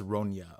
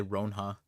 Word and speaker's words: Ronya: Someone said it's pronounced Ronya. Okay. Oh, Saeed. There you go. Ronya. Damn. I was gonna say Ronha.